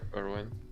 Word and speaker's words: Erwin: After he's in military police custody, he's visited by Levi and Commander Irwin Smith. Is that how you say his name? Yeah, Erwin.